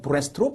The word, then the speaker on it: breast: breast라는 단어는 east가 들어있지만 그렇게 발음하지는 않고 rest, 휴식이라는 단어를 가지고 와서 발음을 가지고 와서 breast로 발음한다.